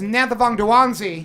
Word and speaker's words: Nanthavongdouangsy: to my left from these guys worldwide Anantha Vonda juanzi hey got it right I got it right